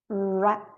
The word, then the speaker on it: wrap: Pronuncia o W, não o H. Why. wrap, Wrap.